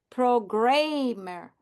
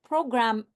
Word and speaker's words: programmer: Actually, it has a second M, so it is programmer. If I wrote just ER, it would not be right. That would be pronounced programmer, programmer, right? Because MER will go together. So I'm adding a second M, so I have programmer.